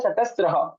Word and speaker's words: चतस्र: वैसे शुद्ध उच्चारण में चतस्र इस प्रकार से होना चाहिए, क्योंकि त्र और का सर साउंड वहां पे आना चाहिए।